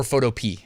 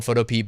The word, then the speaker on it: Photopea: It's actually called Photopea or Photopea. I know it's spelled Photopea, but I always say Photopea. I don't know why.